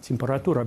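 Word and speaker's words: температура: Practice actually saying, temperatura, temperatura, because even though it's spelled temperatura, it's reduced.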